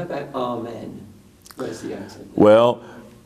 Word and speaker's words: amen: we know that that many sing the word all men with the accent on the first syllable but but in the Greek and in the slanic and most Orthodox churches in fact keep the accent where it originally was amen so in that